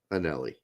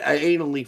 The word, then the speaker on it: Anelli: Greg Turtholder, we do know that Annalie's name is Italian and that it's actually pronounced Anelli. Yeah, I said that. Right. I said anally for fun.